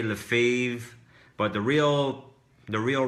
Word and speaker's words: Lefebvre: Sebastian's last name in French is Sébastien Lefebvre, but some people say Lefebvre, but the real right pronunciation is Sébastien Lefebvre.